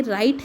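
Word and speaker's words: Wright: 1903 में राइट brothers थे, ये राइट है, डब्ल्यू साइलेंट है ना, राइट ब्रदर्स थे, उन्होंने द फ्लायर नाम का एक फ्लाइंग मशीन बनाया था यूएसए में।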